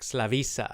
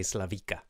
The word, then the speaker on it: Slavisa: I don't like Slavisa, I believe is the correct pronunciation of her name, and I always say Slavika.